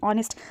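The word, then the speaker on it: honest: ऑनेस्ट से शुरू होता है। एच से शुरू होता है। तो क्या हम लोग यहां पे ए लगाएंगे? नहीं। यहां पे हम लोग एन लगाएंगे। क्योंकि इसका प्रोनाउंसिएशन जो है वो अ से शुरू हो रहा है।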